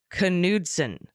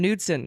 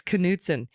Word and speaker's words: Knudsen: Attorney General of Montana's name is pronounced Knudsen gotta pronounce the k oh we were calling him Newton like we were doing a silent k it's Knutson thank you so much